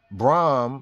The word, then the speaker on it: Brahm: Indian priest became corrupt Brahm Brom like Brahma but it's spelled b-r-a-h-m Brahm was forgotten in